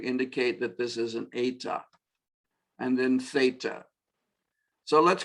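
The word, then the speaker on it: ἦτα: So epsilon, zeta, eta. It's our long E, eta.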